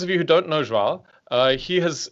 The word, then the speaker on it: João: It's a little bit like how you say São Paulo, like it's São Paulo. It's like in the nose a little bit. João, like something like this.